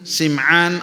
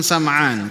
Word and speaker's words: Sim'an: Jamaah sekalian yang saya hormati, hadis ini bersumber dari sahabat Nawas ibn Sim'an ataupun Sam'an. Kedua-duanya bisa dibacanya Sim'an ataupun Sam'an, walaupun dengan menggunakan kasrah Sim'an itu lebih masyhur.